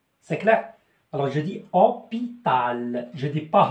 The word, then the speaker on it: hôpital: Alors je dis hôpital, je dis pas hôpital.